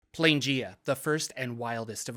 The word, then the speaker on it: Planegea: Yes, it's called Planegea. I know I said Planegea in the last video, which was incorrect because it's the beginning of the plains, you know, Planegea.